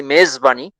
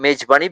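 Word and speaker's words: mezbani: kulsum and meijbani actually maize bunny in persian it would be maize bunny but in bengali size version it has become mage bunny because zed is not pronounced in bengali kul sumer meijbani hospitality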